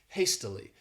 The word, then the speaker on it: hastily: the next adverb is hastily this word has three syllables and the stresses on that first syllable hastily and what it means